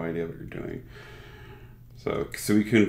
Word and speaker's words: Suicune: So, Suicune V? Yeah. Okay. Is that how you pronounce it? If it's actually Japanese and it's the pure Japanese pronunciation, then it's Suikune.